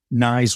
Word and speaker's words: Knies: I like about Matthew nice is his size I mean it rhymes with knives and and he's got